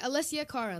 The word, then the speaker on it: Alessia Cara: you have to tell us how do you pronounce your name okay you said it right alessia cara alessia um okay well i'm actually from canada